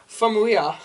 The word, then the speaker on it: Famuyiwa: Here, you want to try to pronounce that? Yeah, sure. Famuyiwa. Famuyiwa, who was hired after his success with the Sundance sensation Dope.